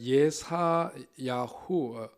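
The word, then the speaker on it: ישעיהו: 사실은 이제 그 발음이 히브리어로 보자면은 예사 야후 예사 야후 히브리식 발음으로 하면 이제 이렇게 되죠 이제 예사야 후인데 이게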